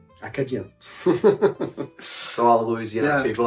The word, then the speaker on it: Acadien: And this one reason why they call Cajuns, so Cajun in French, is because it's a mispronunciation of Acadien. Acadien.